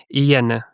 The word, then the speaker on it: Inyene: So that is why I understand your pain with your name, and I respect their correct pronunciation. So just to be on the same page, your name is Inyene.